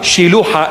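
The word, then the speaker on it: Shiloah: Shiluha, Shiluha in the proper pronunciation.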